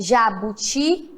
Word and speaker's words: jabuti: o jabuti e tapiri qual é a sílaba mais forte quando eu falo jabuti sei o que tá se o jabuti como ficaria jabuti Qual foi o mais forte qual que eu fiquei mais ot jabuti e não tapiri vamos lá tapiri qual é o seu mais forte URI muito bem isso mesmo a sílaba mais forte agora é a última os do jabuti e